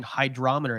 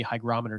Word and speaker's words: hygrometer: people were like oh he's saying hydrometer it sounds really close I didn't realize I was totally mispronouncing it so and then now the next sponsorship I'm doing is with a company you sent me hygrometer so I have to learn how to pronounce it correctly yeah you got hit